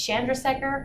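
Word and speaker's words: Chandrasekhar: Indian student one time and I saw I butchered this last name but it's Chandra Sekhar it's what I call a gem seeker so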